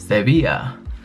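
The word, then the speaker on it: Sevilla: go to sevil or the Spanish pronounce it seia um which is in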